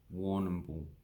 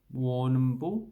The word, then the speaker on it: Warrnambool: And then we have an indigenous word, Warrnambool. Warrnambool. This one we just pronounce all of it. War, none, bull.